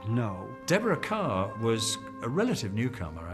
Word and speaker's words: Kerr: to pronounce her name they all called her kerr and and so the studio publicity said deborah carr it rhymes with star that put it in